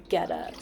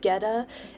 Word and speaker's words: Goetta: The broth is done, and now I am making Goetta. So if you've never heard of Goetta, it is spelled like Goetta, and it is a German food.